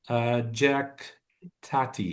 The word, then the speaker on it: Jacques Tati: Hulot character of the French comic actor and director Jacques Tati.